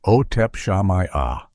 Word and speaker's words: Otep Shamaya: The center of this storm was the lead vocalist, Otep Shamaya, pronounced Otep Shamaya.